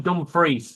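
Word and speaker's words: Dumfries: Last time I heard she was in dumb free which is spelled dumb fries.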